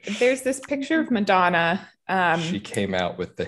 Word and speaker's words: Madonna: Madonna. Yeah. It's important to pronounce Madonna with an Italian accent.